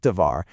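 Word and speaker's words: דבר: It's pronounced, you know, kind of like dvar.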